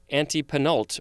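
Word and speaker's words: antepenult: uh third from the end specifically the third syllable from the end of a word uh you should say anti-penult or anti-penultima or anti-penultimate looks like all are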